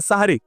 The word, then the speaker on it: সাহুর: শব্দটা হবে হয় সাহুর আর না সাহারি। হয় বলবেন সাহুর, আর সাহুর বলতে যদি কষ্ট হয় দরকার নাই, তাহলে সেহরি না বলে সাহারি বলুন, দন্তের উপরে আকার দিয়ে দেন, বাস হয়ে গেল। তাহলে বিশুদ্ধ উচ্চারণটা হবে।